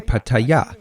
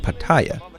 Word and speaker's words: Pattaya: I'm in Pattaya. Yes, it's pronounced like that, with the accent on the last syllable, although they usually call it Pattaya, and it's a wonderful place.